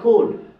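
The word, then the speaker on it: could: পূর্বে এম এর পূর্বে যেমন দেখেন কুড এখানে ডি এর পূর্বে এলাচ উচ্চারণ হবে না সুড ডি এর পূর্বে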